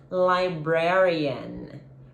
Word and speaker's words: librarian: a library, que é librarian, ok? Librarian. A última sílaba é o librarian. É o schwa sound, que é o som mais comum do inglês, é o que a gente não tem em português, esse librarian, a gente não tem, tá?